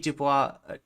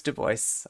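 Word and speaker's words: Du Bois: the idea of the talented tenth which WDB Dubois Oh, I did it. I did it. Oh my god. Vosch. I blame Vosch. Duboce. I I know it's Duboce.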